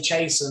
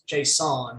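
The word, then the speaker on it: Chaisson: it the other day i used to say chasing all the time but it's chase on he as he said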